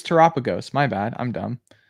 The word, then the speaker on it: Terapagos: I think if I'm correct, it's pronounced Doshboon, I think is how it's pronounced. I could be wrong. Okay. Oh no, it's Terapagos. My bad. I'm dumb. It's Terapagos.